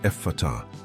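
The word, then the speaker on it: Ephphatha: The first word is epatha. It's pronounced effort, letting the sound flow softly from the lips.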